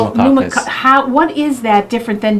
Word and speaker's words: Pneumococcus: Pneumococcus. Pneumococcus.